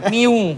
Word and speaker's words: Mu: apa tuh R1 jangan MU Pak sensitif saya dengar miu Pak bacanya miu miu Pak itu Miu Miu bacanya bukan MU Pak WA Ywa yen ywa apa kayak Eger kayak Eger Oh iya benar.